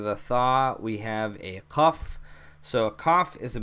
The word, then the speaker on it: qaf: And it makes a, so it doesn't make a k sound like a k. It's more of a deep in the back of your throat kind of ka, ka, ka. So qaf, daqiqa, ka, ka, ka.